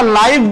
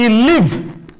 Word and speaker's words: live: যেমন যখন আমরা লাইভ বানান করব LIVE, লাইভ, লাইভ মানে জীবন্ত, বলে না লাইভ টেলিকাস্ট হচ্ছে, লাইভ চলছে, ভিডিওতে লাইভ চলছে।